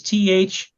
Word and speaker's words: Thweatt: I'm going to spell it for you. For those of you who don't know, it's Thweatt.